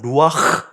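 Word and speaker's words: רוח: 봐 이렇게 되는 거죠 성령을 뜻하는 히브리 말은 루아흐 이렇게 돼야 되는데 루아흐이 정도로 했겠죠 발음이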